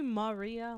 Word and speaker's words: Maria: Yeah, but it's just call me Maria. Like, just add that extra syllable, like whatever.